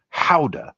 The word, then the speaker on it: Gouda: Now it says hickory smoked gouda or howa as it's pronounced in Holland where gouda originally came from or how originally came from.